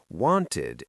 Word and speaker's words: wanted: Wanted ends with an iid sound.